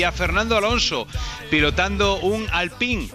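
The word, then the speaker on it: Alpine: fernando alonso pilotando un al ping que hoy han dicho que se pronuncia así el al ping era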